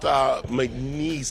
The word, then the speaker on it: McNeese: And Staff Sergeant McNeese, did I say it right? That's right, yeah.